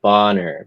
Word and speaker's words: Boner: they'd pronounce it Bonner, but people would make fun of him.